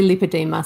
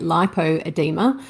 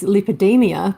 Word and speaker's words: lipoedema: sure well I think depending on where you are in the world on how people will pronounce it so some people say lipedema some people say lipoedema uh of course what we don't want people saying is lipidemia because that's actually a different condition so uh doctors have